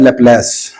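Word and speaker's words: Laplace: दूसरी बात, just for your information, this is called लैप्लेस। लैप्लेस कह लें, लैप्लास, जो भी आप प्रोनाउंसिएशन कहते हैं, लैप्लास पार्शियल डिफरेंशियल इक्वेशन।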